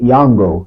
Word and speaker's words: Yango: In Drive is one and then there's a new one called Yango.